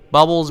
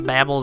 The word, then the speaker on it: Bubble: Bubbles, babbles, I've always called them babbles, but I think they're actually pronounced bubbles.